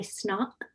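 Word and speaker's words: Snauq: it's called Goodbye Snock. Goodbye. And SN, Snock, okay. Snock is spelled S-N-A-U-Q.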